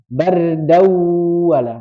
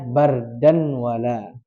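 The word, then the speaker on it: بَرْدًا وَلَا: Jadi cara bacanya adalah bardawala. Nah, tadi membacanya bardan wala. Enggak, bardawala.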